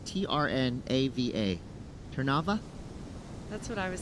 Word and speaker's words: Trnava: His hometown, a little hard to pronounce here because there's only 2 vowels, Trnava. Trnava? That's what I was thinking. I was also trying to practice that. Trnava.